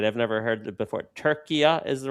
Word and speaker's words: Türkiye: sort of government's leadership, they are on a campaign to have it pronounced as Türkiye. In order to likely distinguish it from the other Turkey, and that's the reason why locally, that's how I pronounce it.